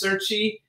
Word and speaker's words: Cerchi: C-E-R-C-H-I. Cerchi. Okay, well, I don't speak Italian, so for me it's Cerchi.